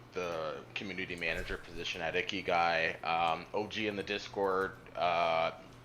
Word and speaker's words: Ikigai: I always say Ikigai, but I think I say it wrong. Ikigai. Yeah, Ikigai.